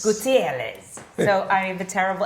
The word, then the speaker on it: Gutierrez: Gutierrez. Gutierrez.